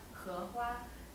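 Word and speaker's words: 荷花: The lotus flower in Chinese is pronounced he hua, and he it also the pronunciation for harmony.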